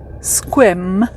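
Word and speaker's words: Sequim: i m and but you don't pronounce the e as our friend lynn said it's a silent e so this is the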